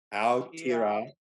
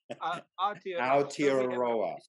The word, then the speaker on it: Aotearoa: Aotearoa. Oh, that's right. Kapai. There you go. Aotearoa.